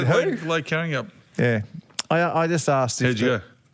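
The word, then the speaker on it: Karrinyup: I said Lake Carryup, and they said there's no Y in. Carrying up.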